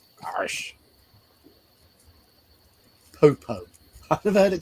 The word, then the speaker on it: Arsch: Yeah, in German it's Arsch. Arsh.